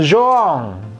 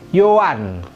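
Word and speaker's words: Yohan: Euro 2012 ini bacanya bukan bukan Zoa sama sekali bukan Zoya dia dibacanya Yoan nah kemudian belakangnya miku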